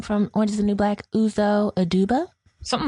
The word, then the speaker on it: Uzo Aduba: about Viola Davis no and how do you pronounce her name from oranges and new black uzo aduba something like that okay great they both were